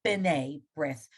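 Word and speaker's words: B'nai B'rith: Again, when a shabazz starts the word, make it like it's almost like the letter in an apostrophe, like b'nai brith. When you spell b'nai brith, there's not a short I in there, but that's how it sounds.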